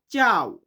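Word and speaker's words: ciao: সি but Italian উচ্চারণটা হবে চি। চি দিয়ে হয় চাও।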